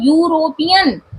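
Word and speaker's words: European: वो आई हो लेकिन इसका प्रनंसीएशन क्या है यूरोपियन यूरोपियन इसको यू ऐसे नहीं बोलते हैं तो प्रोनाउंस में या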